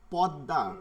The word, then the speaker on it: পদ্মা: সেতু এরকম বলবে না কিন্তু আমি তো জানি এটা কি হবে জফলার মতন উচ্চারণ হবে পদ্মা সেতু তাই না পদ্মা পদ্মা